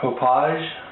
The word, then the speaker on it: Hauppauge: looking at is an hdpvr2 hpage I guess I actually had to look up the best way to pronounce it couple people I've seen that's how they called it uh supposed to be